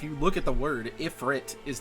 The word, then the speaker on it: Ifrit: I know it could be also what is it? Ifrit? Ifrite? I know a lot of people argue about this pronunciation. Ifrit, I believe is how it's supposed to be saying.